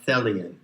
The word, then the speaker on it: Thelian: And if you recognize and dwell in that which is intended, then you are a Thelian, rhymes with Hellion, which means basically that